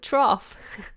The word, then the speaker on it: trough: Oh, trough.